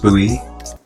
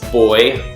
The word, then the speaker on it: Bowie: so hopefully can confirm Bowie is pronounced Bowie yeah like here in Australia and I think also the UK as well they you know we pronounce it as boy you know like a male child and yeah I remember